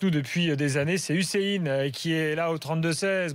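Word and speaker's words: Hüseyin: Ça se dit comme ça. Hussein. C'est comme ça, ouais, c'est Hussein.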